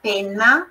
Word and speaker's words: penna: E aí, penna, tem dois N's, aquela forçadinha na pronúncia.